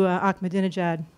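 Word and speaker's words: Ahmadinejad: primarily I'm really curious about your insights into akad Jad who I'm sure I'm mispronouncing no actually you pronounced the name very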